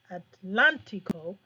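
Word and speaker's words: atlántico: in the ocean o atlantico and notice your stress is on the a because you have an accent mark here you have Oceano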